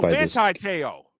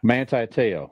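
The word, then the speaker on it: Manti Te'o: Oh, Manti Teo. Yeah. Manti Teo.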